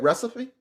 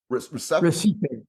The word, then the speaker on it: Recife: Recipe? Recife.